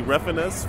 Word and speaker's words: Refenes: I'm sitting here with Tommy Refenes from Team Meat. Yep. And we're talking about... Thank you for pronouncing my name correctly.